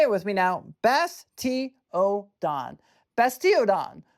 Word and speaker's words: Bastiodon: Bas- ti-o-don. Bas-ti-o-don. Bastiodon. This Pokémon is from roughly 100 million years ago. It's terrifyingly tough face is harder than steel. Wow. Say it with me now. Bas-ti-o-don.